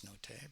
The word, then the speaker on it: Nottet: I think I said his name wrong a couple of times previously, so forgive me for that. I know it's Nottet, but away, get away, you're such a freak.